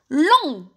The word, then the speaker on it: long: دونك كي زدت الاو تاع الفيمينا هاد لو تي وليت ننطقه كور كورت. نروحو نشوفو المثال الزاوج. long avec un T.